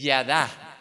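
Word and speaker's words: ידע: es percibir completamente y en hebreo el término o sea el verbo conocer se dice y ya da y bueno se escribe como en hebreo pero así se dice en castellano ya da qué es un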